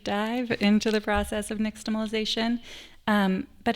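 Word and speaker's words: nixtamalization: Brandon, help me pronounce it first before I ask anything. Niximalization.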